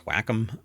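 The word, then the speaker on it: Wacom: I even sat down like uh some people pronounce it wake them but it's whackom. So whackom tablets um I used to use those and I stopped.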